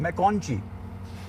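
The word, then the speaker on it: McConchie: अब ये मैकूनी का नाम इतना मुश्किल है कि इनकी प्रोनाउंसिएशन क्या है वो मैंने सुनने की कोशिश की थी। एक दफा आपके सामने भी सुन लेते हैं। क्या नाम है भाई का?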